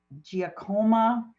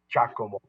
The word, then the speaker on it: Giacomo: you madam mayor the the name is spelled actually jesus and golf i-a-c-o-m-o there's no uh uh dracoma but it was a giacomo uh or even better